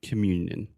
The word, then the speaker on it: communion: so you're saying that should be an easy sound because you're saying you you but then that's actually a nasal vowel in English which is not super common in English but it is super common in Portuguese so it's just like